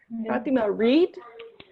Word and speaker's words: read: this word in past it is the exact same sound as the color red red so i think